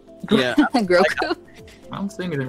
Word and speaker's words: Grogu: I keep calling him Gogru. Goku. Yeah, because of Goku. Like Groot? Yeah, it really is not. It's not a good name. I say Grogu. Oh. Yeah. Grogu?